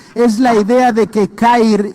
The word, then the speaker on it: CAIR: derechos civiles para musulmanes conocida como Kair y se pronuncia C a I r. Cair.